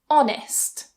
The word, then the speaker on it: honest: French or Old French, we tend not to pronounce that H as a h sound. We just remove it completely. For example, honest, honest.